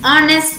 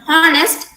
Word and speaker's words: honest: have something in common the h sound here is silent uh please remember this the letter h uh some people pronounce the letter h as heads it's not h it's h coming to these words it's r instead of heart it's honor instead of corner it's honest instead of harnessed it's on triple instead